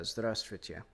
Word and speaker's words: Здравствуйте: Like, it took me several weeks to be able to pronounce Здравствуйте. Because it's just ZDRST. Or, yeah, ZDR is a very difficult cluster. And then Stvui.